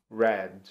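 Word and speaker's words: read: com a mesma grafia a grafia não muda o jeito de escrever é exatamente igual vai mudar o que vai mudar a pronúncia então você não presente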